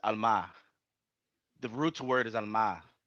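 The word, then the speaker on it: עלמה: It's That's Alma. why It's Alma. Ha It's al Alma. That's how you mahara. pronounce it. It's Alma.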